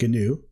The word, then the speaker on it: GNU: I've included an interesting article down below about how GNU, which is spelled GNU but pronounced GNU, and Linux actually came together to be one whole operating system.